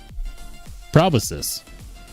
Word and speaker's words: proboscis: Proboscis. Really? Proboscis.